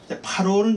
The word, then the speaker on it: 파로: 파로는 이제 왕이에요. 우리말 그냥 바로 하는 건데 원어는 파로라고 발음을 합니다.